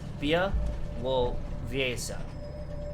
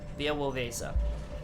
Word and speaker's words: Białowieża: There being, by the way, oh, they provided pronunciation. You guys are so fucking awesome. Okay, Białowieża. Białowieża. Yeah, Białowieża.